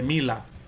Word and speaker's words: Miller: como los índices de Miller. ¿Ok? Los índices de Miller, o índices de Mila, pronunciado, ¿verdad? Un idioma ya alemán directamente.